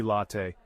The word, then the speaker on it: latte: in latte sounds like the a in Father say it with me latte next cappuccino the stress